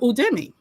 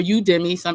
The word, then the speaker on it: Udemy: Okay, so some of you may have heard of Udemy or Udemy. I've heard it pronounced both ways.